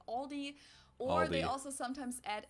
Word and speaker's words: Aldi: LD before but I think most people say Aldi or they also sometimes add an s that